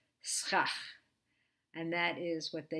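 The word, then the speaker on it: סכך: It's pronounced schach.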